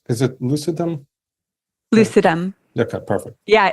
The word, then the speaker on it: lucidum: So I'm sorry how do you pronounce is it lucidum? Lucidumm.